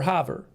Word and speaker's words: Havre: How do you pronounce that? Havre. Havre or Havre?